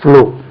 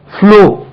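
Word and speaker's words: flew: இட் ப்ளூ பிளை capacitance ப்ளூ அதே இதை நீங்க கொஞ்சம் ஞாபகம் வைக்கக்கூடிய வேர்ட் ஆகும் fl ew ன்னா அது ப்ளூ சொல்லக்கூடாது ஃப்ளூ ப்ளூ மாதிரியே ஃப்ளூ அதே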